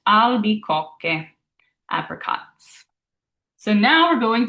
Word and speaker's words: albicocche: Now, some of you might have seen that CH and wanted to make it a ch sound. And next, we're going to dive into our pronunciation rules. So I'll explain to you why that's a a K sound when you see the CH.